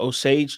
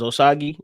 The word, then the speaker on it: Osage: about the um I it's the Osage tribe I think that's how you pronounce it I thought it was osagi but they they were saying no Sage so we gonna roll with that um but it was